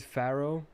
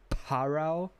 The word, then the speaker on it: Pharaoh: Like, if you don't pronounce it Pharaoh, how were you gonna pronounce it? Were you gonna pronounce it Parao? I don't know. What were you gonna do? It's definitely an F sound.